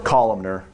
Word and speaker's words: columnar: Once again, you called them columnar or Columnar.